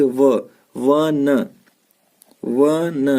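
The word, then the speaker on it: one: ठीक है, जैसे यहाँ देखिए व न, इसको वन पढ़ते हैं, ओन तो पढ़ते नहीं है।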